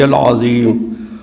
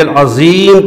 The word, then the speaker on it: العظیم: پڑھنا ہے سبحان ربی العظیم، اس میں ذو ہے، اور کوئی ذو صحیح نہیں کر پڑھ پاتا ہے، زے پڑھتا سبحان ربی العظیم پڑھتا ہے، یہ غلط ہے۔ تو اس کے لیے مسئلہ کیا ہے؟